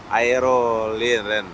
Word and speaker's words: Aeroline: Aerolinen. Macam mana bacanya itu? Aerolin.